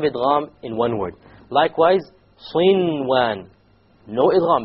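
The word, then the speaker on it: صنوان: There's a noon sakin followed by a waw. Sinwan, sinwan. You pronounce the noon. In this case, the ruling would be idhar. You make it clear. Okay? Without any ghunna, you make the noon clear and you move on.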